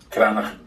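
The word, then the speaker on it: Cranachan: Just quickly, I had to go to a website to try and figure out how to pronounce that, and I'm probably still screwing it up. So I found a website with an actual Scottish person who is pronouncing it.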